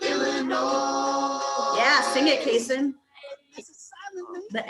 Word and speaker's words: Illinois: It ends with an S, but don't say it, boy, when mentioning Springfield, Illinois.